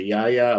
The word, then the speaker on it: Yahya: It's played by I don't know how to pronounce his first name. Is Abdul Mateen II. Yahya. Yeah. Yahya, is it Yahya? Okay, Yahya Abdul Mateen II is going to be the lead in the series.